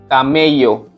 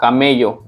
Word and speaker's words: camello: So here is cielo, cielo, cielo, and camel is camello. It sounds like ka, camello in Spanish.